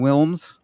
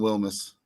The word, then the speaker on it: Wilms: Speaking of talent and talented teams, we are joined right now by Blue Springs head coach Wilms. Right? Am I pronounce that right, Coach? Close is Wilmus.